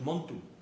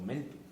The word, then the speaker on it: Montu: el propio nombre al dios Montu, o Mentu, como lo queramos pronunciar, porque Montu es el